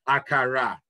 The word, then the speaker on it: akara: So akara, that's the way you say it properly.